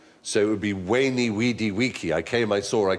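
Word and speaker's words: veni, vidi, vici: I was taught Latin we were taught to pronounce the v as a w so it would be wany weedy weaky I came I saw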